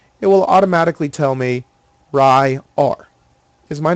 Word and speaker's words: Ryar: So I want the first name to be pronounced Ryar. So I use the word Ry. Then I put a dash, and then I put A-R-E.